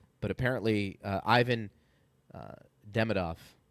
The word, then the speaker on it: Demidov: I know, but apparently uh Ivan uh Demidov, if I'm pronouncing it correctly. Yeah. Um or depending on which syllable you're accenting.